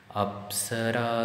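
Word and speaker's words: अप्सरा: In that line, the apsara pronunciation, up and sa, up, sa, the two sounds are in lower pitch. Apsara, ra is middle pitch, and su is higher pitch.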